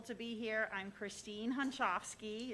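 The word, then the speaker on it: Hunschofsky: you got to educate us all on the pronunciation of the last name. Hi, everybody. I'm so grateful to be here. I'm Christine Hunchofsky.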